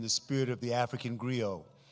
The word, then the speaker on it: griot: spirit of the African griot gr IOT the the T is silent and the griot would